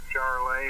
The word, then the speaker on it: Charolais: i don't know but it's called charlay it's kind of kind of cow or beef but they're really good and uh excuse me they're either solid i think they're solid white well it's spelled just like charlotte north carolina i think but they're